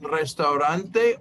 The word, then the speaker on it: restaurante: Oh yeah, the R is very hard to pronounce. It's restaurante.